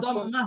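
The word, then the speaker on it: ضمة: তিন নাম্বারটা হলো পেশ এই পেশকে এরাবিক পরিভাষায় এটাকে বলা হয় দম্মা দম্মা জি দম্মা দম্মাতুন শব্দটা কি দম্মাতুন তো দম্মাতুন কে যখন আমরা অক্ষ বলি দম্মাহ বলি কি বলি দম্মাহ দম্মা এটা শিখিয়ে নিলাম এজন্য আমি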